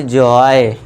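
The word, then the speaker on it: joy: जे ओ वाई जॉय।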